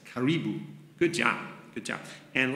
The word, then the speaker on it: karibu: many countries in africa it almost looks like caribou when it's spelled out but it's karibu good job good job